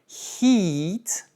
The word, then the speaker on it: heat: Par exemple, hit, c'est frapper avec un i court, mais heat avec un i long, ça veut dire la chaleur.